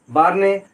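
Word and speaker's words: Bjarne: बार्ने Stroustrup, यहाँ पर जे silent है।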